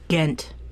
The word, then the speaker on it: Ghent: the Treaty of Ghent G H ent pronunciation gent are you guessing I'm guessing